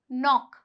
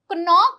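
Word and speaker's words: knock: Words देखिए इसे। के एन ओ सी के। यह क्या हुआ? नॉक यानी कि खटखटाना। नॉक। तो इसे कनॉक नहीं बोलते हैं। यहां पे जो के है वह साइलेंट है। यह क्या कहलाएगा? नॉक कहलाएगा।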